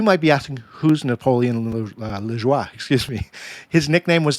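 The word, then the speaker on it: Lajoie: They acquired a player named Napoleon Lejoie. And I actually spoke to a former colleague of mine who's Canadian. They gave me the correct pronunciation, so I hope I'm hitting that correctly. But Napoleon Lejoie, he was acquired by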